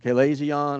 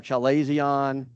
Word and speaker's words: chalazion: I put the Ferguson pronunciation of it up there, chalazion or chalazion.